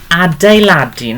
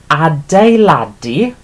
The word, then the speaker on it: adeiladu: Okay, so the E there is the U sound. Okay, so adeiladu is to build or building, and pronounced like this.